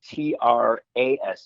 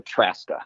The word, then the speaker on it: Trzaska: So the Z is silent. So it's pronounced as if it were spelled Traska. So Trzaska.